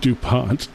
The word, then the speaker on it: DuPont: I for some reason thought there was an I in there. It's Dup. It's DuPont.